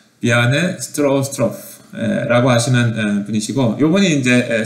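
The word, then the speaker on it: Bjarne Stroustrup: 그래서 이제 요분이 지금 비아네 스트로스트로프, 좀 이름이 좀 발음하기가 어렵습니다. 비아네라고 발음하더라고요. 비아네 스트로스트로프 라고 하시는 분이시고, 요분이 이제 C++ AT&T Bell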